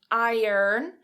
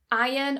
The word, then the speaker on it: iron: In the UK, we would tend to say iron or something along those lines, but we would never say iron in the UK.